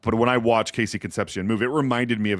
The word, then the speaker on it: Concepcion: It's Casey Concepcion. Yeah, he's got. Am I pronouncing that right this time?